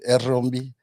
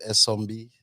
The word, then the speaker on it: Erombi: the Bakure man will pronounce it Erombi, Okay. but many people call it Esombi.